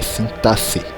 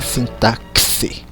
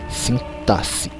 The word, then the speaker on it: sintaxe: que é a sintaxe primeira pronúncia é essa até sintaxe não é sim táxi sintaxe assentar-se a parte da